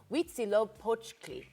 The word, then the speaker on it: Huitzilopochtli: Highlands, and Daniel, a member of the Grupo Huitzilopochtli.